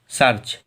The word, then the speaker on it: search: सर्च में जो ए है वो हम लोगों का ई के बाद में आ रहा है, तो ए का उच्चारण नहीं करेंगे, केवल SERCH का करेंगे, तो पढ़ेंगे क्या? सर्च।